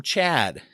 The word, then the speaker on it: CHADD: think is a good one actually comes from CHADD. Not just a friend of mine named Chad, but the organization CHADD, which is spelled CHADD, which stands for, it's an acronym,